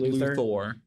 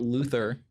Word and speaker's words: Luthor: So it's a little bit like Well, it's not Luther, it's Luthor.